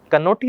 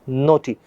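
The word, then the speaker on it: knotty: The next word we have नोटी। कनोटी नहीं बोलेंगे बेटा इसको, मैंने हमेशा बताया आपसे कि कोई वर्ड आपके पास में आता है उसमें एन हो और उससे पहले के हो तो के का प्रोनाउंसिएशन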